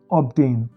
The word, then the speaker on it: obtain: यहाँ एक शब्द है दोस्तों, देखिए OBTAIN, ऑब्टेन, यहाँ पर बी साइलेंट नहीं है दोस्तों।